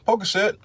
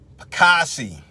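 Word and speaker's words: Pocasset: I'm at 50 Pockeset." "No, it's 50 Old Pocassi." That's how you pronounce it.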